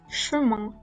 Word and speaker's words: chemin: Tomemos el caso de chemin. La vocal I va acompañada de una consonante nasal N. Esta última no se pronuncia, pero la vocal precedente se realiza nasalizada. La pronunciación sería chemin.